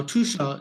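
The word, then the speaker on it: Tuscia: in the heart of tusha now tusha is actually spelled t-u-s-c-i-a but it's pronounced as t-o-o-s-h-a so welcome Federica it's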